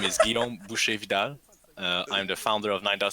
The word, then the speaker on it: Guillaume Boucher Vidal: Boucher is actually butcher so my name is Guillaume Boucher Vidal I'm the founder of NIDA studio and and